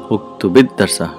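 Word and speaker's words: اكتبِ الدرسَ: on the ba or the sukoon on the lam kalima of the fa'al is turned into a kasra. So how do you say uktubid darsa? Uktubid darsa.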